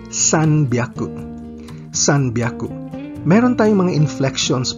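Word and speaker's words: 三百: Pero may inflection tayo o pagkakaiba sa pronunciation dito. Ang H ay nagiging B. Kaya imbes na hyaku, ito ay nagiging byaku. Kaya ang 300 ay sanbyaku.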